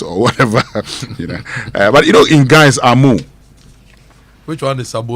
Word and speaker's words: Ameo: Yemo Anand from University of Ghana says tomato is Amoah, yes, but he spells it AMEO, and he says it's pronounced Amoah in Ghana.